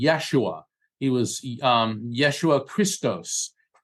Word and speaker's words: Yeshua: and it was and his name in in Aramaic or the closest we could pronounce would be Yeshua he was um Yeshua